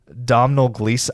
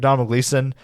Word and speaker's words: Domhnall Gleeson: The big lead in it is going to be Domhnall Gleeson. I think I'm pronouncing his name right there, but Domhnall Gleeson, that you will know as General Hux in